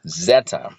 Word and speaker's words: Zeta: this is our next letter we've just written Zeta that's how it's pronounced and the next letter is ETA now